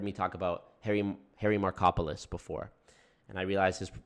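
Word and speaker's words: Markopolos: talk about Harry Harry markopolis before and I realized his his last name is pronounced Harry Marco polos like Marco Polo he's Greek um and if you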